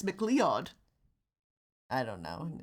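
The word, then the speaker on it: MacLeod: was he was conor mccloud's descendant somehow you know what the fun part is that's not how you pronounce that name in scottish it's not mccloud it's mcleod i don't know it's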